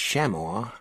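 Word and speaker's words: Shaymore: That was the direction that funny fog bank had come from and it was the direction Sheamore, pronounced Sheamar by the locals, lay in.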